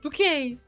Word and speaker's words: Bucket: Hyacinth bucket, pronounced bouquet!